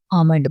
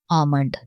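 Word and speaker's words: almond: जो होता है वो साइलेंट हो जाता है, इसे आमंड बढ़ा जाता है, आमंड।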